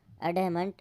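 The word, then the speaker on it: adamant: इसका प्रोनाउंसिएशन होगा एडमेंट और एडमंट, ठीक है।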